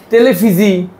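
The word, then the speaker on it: televisie: এইযে সিখারে মানে সিগারেট তারপর ডেফ কি টেলিফিজি তেলেফিজি মানে টেলিভিশন তেলেফিজি তার মানে মানে কি বুঝেছেন এখানে বানানটা দেখেন আপনি একটু কি লিখছে টেলে এই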